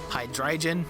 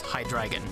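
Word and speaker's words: Hydreigon: it is gif and it is not hydrogen it is high dragon thank you and good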